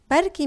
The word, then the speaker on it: بركي: بركي means maybe. Some people pronounce it as بلكي with a L instead of an A. So it depends on the accent.